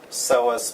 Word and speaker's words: psoas: one is called the psoas major so essa' spelled with a P but you do not pronounce the P the psoas major is